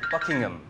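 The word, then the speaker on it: Buckingham: 이게 발음이 한국에서는 버킹검이라고 하잖아요. 버킹검이 맞는 발음이요? 아니요. 오. 버킹엄. 흠이네요, 흠. H-A-M으로 쓰는데 그냥 음이라고 돼요.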